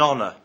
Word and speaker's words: honor: look at the word honor we say an honor not at honor the age in honor is silent other examples are an hour and an